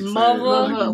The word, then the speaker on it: Muva: How you say it? Like Mova. We ain't from that. Like a mother.